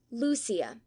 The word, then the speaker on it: Lucia: going down right note Lucia is pronounced Lucia Portuguese not Spanish reading Madame or rather